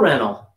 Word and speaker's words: rental: rental car rental your tongue is going to get pulled down in your jaw when you say the l one l or two l's rental rental rental car rent car yeah rent a car rental it's a car rental car rental rental rental rental rental yeah difficult r and an l very difficult for native age car